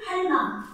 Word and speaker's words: 할망: So in Jeju, the second highlighted one, 생불 할망. Earlier it was 할머니, right? But in Jeju dialect, 할머니, grandmother, is pronounced 할망, like 엄망, right?